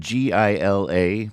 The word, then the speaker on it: Gila: crystianna on the board right answer spelled GI la but I do believe it's pronounced Gila monster I don't think I've